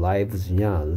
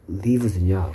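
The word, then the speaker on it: lives: 복수형이니까 얘는 똑같이 생겼는데 얘를 라이브즈라고 읽느냐 리브스라고 있냐에 따라서 살다인지 생명들인지 달라지는 거죠 똑같이 스펠링은 똑같은데 발음에 따라서 life의 복수형 라이브즈냐 리브의 3인칭 단수형 리브스냐 구분하셔야 되겠고요 여기에 얘는 셀 수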